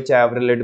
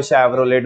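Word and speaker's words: Chevrolet: कोई चैवरोलेट बोल रहा है, कोई शैवरोलेट बोल रहा है, हाँ जी। लेकिन इसका प्रोनाउंसिएशन है क्या? शैवरले, है ना?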